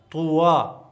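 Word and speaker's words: طوى: دغه یا بیا نه تلفظ کېږي. کله چې یا لاندې دوه ټکي نه وي که نه، نو هغه بیا نه تلفظ کېږي، د الف په شکل دا تلفظ کېږي. طوا. لکه موسی، موسی ګوره په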